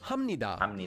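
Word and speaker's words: 합니다: We previously learned that this is pronounced hamnida because there's the consonant biup that's followed by a nian.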